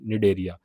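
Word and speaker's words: Cnidaria: जैसे निडरिया इसमें सी साइलेंट रहता है।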